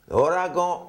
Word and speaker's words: ouragan: Le N dans ouragan, il est prononcé avec le A, the letter A. Ouragan. Et à des fois, c'est prononcé ouragan avec un O-N à la fin.